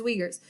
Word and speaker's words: Uyghurs: example let's take the uyghurs they're the u-i-g-h-u-r-s so not ever how i thought i was supposed to say it but that is actually the correct pronunciation as uyghurs so the uyghurs actually they're having re-education